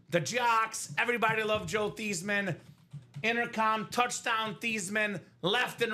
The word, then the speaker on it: Theismann: He said, no, I'm not mad because it's actually pronounced Theismann, Robbie. So proper pronunciation, not Joe Theismann, not Joe Theismann, probably pronounced Joe Theismann for Steven Lenhart here in the quad break.